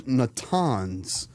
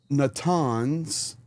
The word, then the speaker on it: Natanz: So it was not just Fordow, but it was also Natanz. I pronounced that wrong. No surprise. So once again, Natanz and Eshahan.